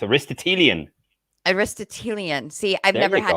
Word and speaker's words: Aristotelian: address aristotle aristotle into an adjective so it's aristotelian aristotelian see i've never had to make aristotle